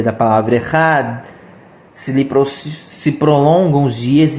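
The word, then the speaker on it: אחד: Disse Rav Ahaba Yaakov, e a pronúncia do Echad deve ser prolongada na letra Dalet, que é a última da palavra, de modo que a palavra é proferida de modo integral.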